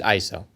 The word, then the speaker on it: ISO: organization for standardization and the correct way to say it is ISO I'm be